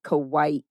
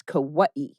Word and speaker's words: Kauai: And it's improper to say Kauai, but it's Kauai is the correct pronunciation.